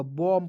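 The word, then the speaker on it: bomb: बी ओ एम बी बम नहीं पढ़ लीजिएगा बम पढ़ा जाएगा बम उसके बाद देखिए टी एच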